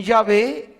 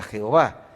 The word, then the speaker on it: Yahvé: No existe como tal la pronunciación yahve es mucho más aproximada que la palabra Jehová por eso Biblias como